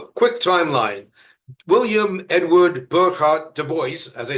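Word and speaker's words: Du Bois: William Edward Burkhard Duboce as I said rhymes with voice was born in 1868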